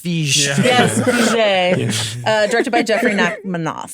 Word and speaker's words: Feige: Actually, it's pronounced Fij.